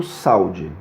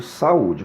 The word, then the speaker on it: saúde: exemplo na palavra saúde eu não digo saude eu digo saúde portanto eu estou separando o a do U como a segunda letra é u ele vai receber o acento saúde isso também acontece quando